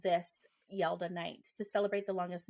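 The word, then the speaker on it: Yalda: in my research um forgive me if I pronounce it wrong yelda y-a-l-d-a night uh ancient Iranians called This yelda Night to celebrate the longest and Darkest Night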